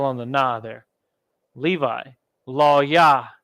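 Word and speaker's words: לוי: the gnaw there Levi law yah the Haitians with Allah and a yah but the law and the wa are connected so it's Lao Yao yeah all right Simeon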